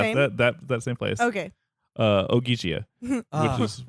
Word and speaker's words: Ogygia: OGYGIA.